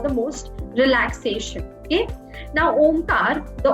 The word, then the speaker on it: Om: most relaxation okay now Omar the M om is made up of three Sanskrit syllables a u and M okay so uh when